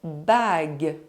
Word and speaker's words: bague: The letter U is not pronounced when it is between the letter G and a soft vowel, E, I or Y. Une bague.